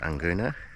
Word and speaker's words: Nguna: I think it's pronounced Anguna.